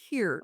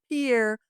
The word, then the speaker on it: Pierre: So, I am originally from South Dakota and the capital of South Dakota, South Dakota is pronounced pier. It looks like Pierre, but it's Pier.